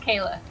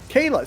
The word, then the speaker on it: Kier-La: It's pronounced Kayla. Kayla.